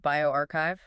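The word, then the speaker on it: bioRxiv: That's a preprint on biov that's pronounced bioarchchive firmwani asen colleagues at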